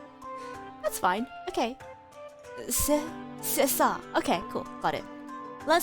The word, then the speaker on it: c'est ça: Oh, it's pronounced Sesa. Sesa. Okay. Okay, okay. So the C is pronounced like an S. That's fine. Okay. Sesa.